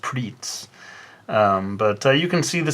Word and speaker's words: Pretz: Pretz, I don't know if any of you have had this sort of pretzel stick snack. In Japan it's pronounced pritz.